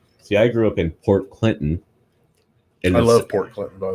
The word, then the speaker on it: Port Clinton: And you know how we pronounce it? Port Clinton.